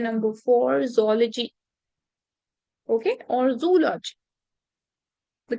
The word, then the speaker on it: zoology: is it option number four zoology okay or zoology the correct pronunciation is zology okay so the study and development of an